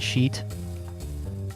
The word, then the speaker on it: sheet: How you pronounce shit and sheet? shit. It, like it, shit. It is shit. Sheet. E. She has clean sheets. It is shit. Sounds the same. She, E, like the letter E.